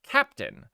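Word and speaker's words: Keptn: They say it's pronounced Captain, but there's an E. And so they're wrong. The creators are wrong. It's Kepton.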